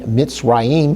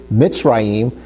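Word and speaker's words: מצרים: So you can see when we look at the word Mitzrayim, we see that the Shiva is underneath the Zadi Hebrew letter, which gives us the E sound. So if we start spelling this word Mitzrayim out, we start off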